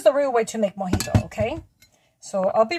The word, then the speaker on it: mojito: am getting ready to finish my moito the way uh you would pronounce it in English but in Spanish it's mojito so I'm Wasing some